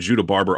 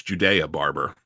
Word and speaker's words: Judea Barber: And by the way, we've been saying Judah Barber all year long. I found out from Ken Anderson it's Judea Barber.